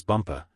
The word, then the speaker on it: Bumpa: as the Crown Princess bumpa you accent the last syllable and tell me did